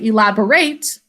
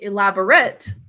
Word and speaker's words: elaborate: it's felt the same the word elaborate though it has the exact same spelling but we actually pronounce it different when it means something different in a sentence we say elaborate when we use it as a verb we say elaborate if we use it as an adjective okay so